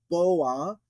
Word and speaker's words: בוא: um but wow you could think of a boa constrictor coming into the room so boa I'm just making this